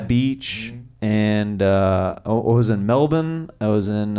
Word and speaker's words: Melbourne: I was in, I say it like the locals, Melbourne. He did. Because Americans say Melbourne. Yeah. And all the locals are like, that's not how we say it. That's how they suss you out immediately. We don't say it like that.